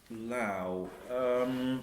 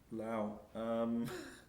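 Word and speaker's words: lowh: Lao. I think the H is basically redundant because it's got a rhyme with bow and now, hasn't it?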